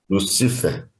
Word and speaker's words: Lucifer: Qual é a pronúncia dessa aqui? Lucifer.